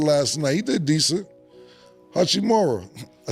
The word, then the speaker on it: Hachimura: Hachimura, I said it right today? Hachimura.